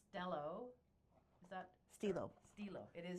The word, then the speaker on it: STELO: Like STELO. you're stealing O. You're stealing O. Okay. Well, it makes sense the way it's spelled, because there's not two L's, there's one L, so that would be my English background would be STELO.